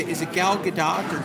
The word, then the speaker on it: Gal Gadot: Is it Gal Gadot or Gal Gadot.